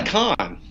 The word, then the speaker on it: Cohn: the spelling's different so people often say cone but I you know be honest I I don't always correct people because it doesn't really matter that much to me but I do pronounce it Khan so it's all good